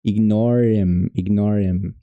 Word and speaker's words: ignore: Ignore, ignor e o I é meio que um e e ignorar aí mais um pouquinho.